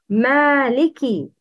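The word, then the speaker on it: مالكِ: Kaf should be pronounced with kisra. It's Maliki. Please repeat. Maliki.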